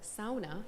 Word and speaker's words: sauna: Finland about the culture so sauna or sauna is the correct way to say it and so the sauna